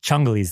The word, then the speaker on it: Ciongoli: a bunch of different Chung is the real right way to say ch ch Chong is the real right way to say it but but um CH Chini chungi is fine so that's my wife